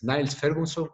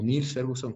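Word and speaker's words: Niall Ferguson: este tema sobre historia es Niles Ferguson, se escribe con A, no como Niels Ferguson, que es en este caso el que hizo el modelo de Johns Hopkins, sino Niles Ferguson, es un historiador.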